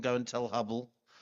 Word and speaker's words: Hubble: Okay, we got Hubble actually rhymes with trouble.